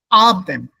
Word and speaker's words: Abend: Abend. Abend. So the E is not pronounced here. It disappears. Abend. That B, N, it gets the merge.